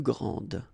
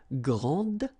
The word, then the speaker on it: grande: And regarding the feminine form, you will pronounce it grande. Okay, don't insist on the final E, but then pronounce this D, grande, and then exactly the same pronunciation, grande.